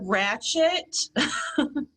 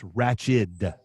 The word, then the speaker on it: Ratched: category now, the word ratchet. It came out in 1975, Amy. Well, and let's make sure we get the pronunciation right. It's not Ratchet. It's Ratched. D.